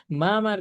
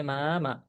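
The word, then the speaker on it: 妈妈: কিন্তু না, কিন্তু না, মা মার ক্ষেত্রে বা মাদারের ক্ষেত্রে উচ্চারণটা হবে আপনার মা মা, এরকম, ঠিক আছে।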